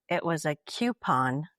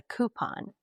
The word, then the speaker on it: coupon: So growing up, it was a coupon, but down here it's a coupon. Right. But growing up, it was definitely the letter Q, coupon.